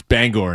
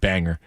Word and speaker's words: Bangor: I said it wrong. It's Bangor, not Banger.